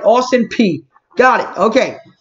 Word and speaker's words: Austin Peay: something going offensively here it's pronounced austin p howdy am i saying